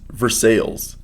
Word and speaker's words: Versailles: Versailles is pronounced Versailles.